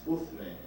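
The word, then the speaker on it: عثمان: In Arabic, the pronunciation is Uthman.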